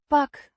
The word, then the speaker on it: pak: Pak. Means grab or catch. This is the first person singular present tense form of the verb. Pakken. To grab. Pronounced. Pak. With a short A. sound like in cat.